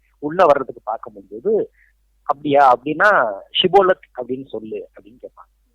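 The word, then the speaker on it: Shibboleth: போன நாட்டுல இருக்கிறவங்களுக்கு என்னன்னா இந்த உச்சரிப்பு வந்து அந்த ஷி அப்படிங்கறது வராது எஸ் ஐ அந்த ஷி வராது அவங்க சிபோலக் அப்படின்னு சொல்லிடுவாங்க சோ சிபோலத்னு சொல்றவங்கள பூரா அவங்க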